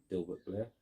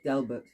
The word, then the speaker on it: Delbert: I don't want to say his name wrong. You know, Dilbert or Delbert. Delbert. That's it.